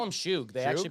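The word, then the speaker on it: Shough: The guy who missed They call him Shug. They Shug? actually pronounce it, yeah.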